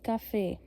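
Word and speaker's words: café: सी C rule the letter सी। सी के आगे अगर हम ए ओ यू सी के आगे ए लग जाए सी के आगे ओ लग जाए सी के आगे यू लग जाए तो हम उसको क के साउंड से रिप्रेजेंट करेंगे ओके प्रोनाउंस ऐसे करेंगे जैसे कफे कफे ये इ ऐसे प्रोनाउंस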